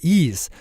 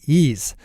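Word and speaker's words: Eaze: You know you're always fully in compliance with state marijuana laws when you order through Ease.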